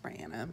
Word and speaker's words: Brianna: It's pronounced Brianna, but a lot of people just call me Bri, so I think I'm just gonna go by Bri.